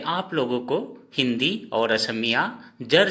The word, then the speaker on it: ক: असमिया का उच्चारण हिंदी में लिखकर बताऊंगा। तो दोस्तों, हिंदी, असमिया और हिंदी में उच्चारण असमिया वाला। जैसे क, इसको हम क कहेंगे, असमिया में क्या कहेंगे? को।